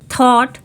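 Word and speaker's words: thought: इसे the read करेंगे अगर टी एच के बाद ओ ए या फिर यू हो तो हम उसे थ रीड करते हैं for example थॉट thunder thanks यहां पे हम टीटीएच को थ रीड करेंगे क्योंकि यहां पे टी एच के जस्ट बाद ओ ए और यू आ रहा है अभी तक हमने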